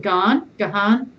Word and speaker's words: Gahan: I think he calls it Gahan.